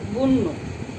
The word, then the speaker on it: বন্য: যেমন বন্য, এটাকে আমরা লিখতে পারি বন নো, যেহেতু পরের ধ্বনিতে জফলা আছে তাই এটা উকারান্ত উচ্চারিত হয়েছে, বন্য।